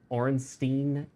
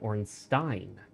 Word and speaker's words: Ornstein: Everyone said Orenstein and Smo. Orenstein and Smo. Orenstein. And I started pronouncing it Ornstein. Like Stein, like a German Stein.